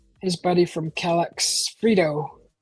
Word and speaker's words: Freedo: His buddy from Calyx, Frito. God, sounds like Frito-Lay's, Frito boat, but it's spelled F-R-E-E-D-O, Frito.